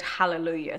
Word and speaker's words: hallelujah: in English um and it's the same with the word hallelujah sometimes he sets it in such a way that the L becomes the most important so you just have to work hard not to ever overemphasize Lou so here we go